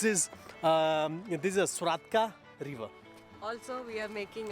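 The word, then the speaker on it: Svratka: a t c a k k so it's swatka with the cck accent like I said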